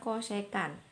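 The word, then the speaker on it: cosecant: perkalian kalau ada tulisan CSC itu bacanya cosecan Hai Atur jam tusan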